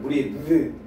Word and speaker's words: breathe: breath 이거는 breathe 이렇게 발음돼요.